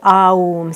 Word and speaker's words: Aum: So the om sound, well, not the om, the aum. So 3 syllables, a, u, So together we're just